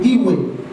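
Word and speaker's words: Ewe: En Ghana seguimos la tribu Iwe, E-W-E. También es un nombre raro. Euriore. Euriore significa simplemente gran jefe. De tener un ganés aquí, Iwe, lo pronunciaría bien.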